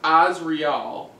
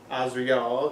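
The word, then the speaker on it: Asriel: Lord Azrael is pronounced Azrael. Azrael, okay. With the emphasis on the first syllable.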